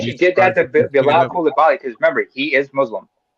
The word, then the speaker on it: Coulibaly: By the way, it's pronounced Coulibaly.